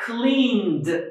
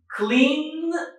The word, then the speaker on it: cleaned: add ED again, but we are going to pronounce it as voiced D because D is voiced.